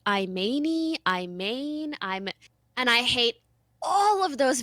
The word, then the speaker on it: Imane: like in English okay in French you read it and it's just Iman but in English I am a and E it's like i mean ii i mean i'm and i hate all of